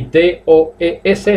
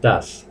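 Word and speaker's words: does: Entonces, D-O se pronuncia do, y D-O-E-S en tercera persona se pronuncia das, D-A-S. Entonces, no se dice do-es, ni se dice do. Repito, se pronuncia do y das.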